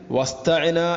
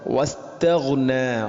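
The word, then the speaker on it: وَاسْتَغْنَىٰ: പിന്നെ വസ്തഗ്ന, ഇവിടെ ഗൈനിൻ്റെ ഉച്ചാരണം പ്രത്യേകിച്ച് ശ്രദ്ധിക്കണം. ഒരിക്കലും നമ്മുടെ വായനയിൽ പാരായണത്തിൽ വസ്തഅന എന്നോ അല്ലെങ്കിൽ വസ്തഗ്ന, മലയാളത്തിലെ ഗ എന്ന ശബ്ദത്തോട് സാമ്യമുള്ള രൂപത്തിൽ ശബ്ദം വരാൻ പാടില്ല. വസ്തഗ്ന, വസ്തഗ്ന, ഈ രൂപത്തിലാണ് വായിക്കേണ്ടത്.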